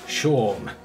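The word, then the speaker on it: Seam: Named Scene, pronounced Shorm.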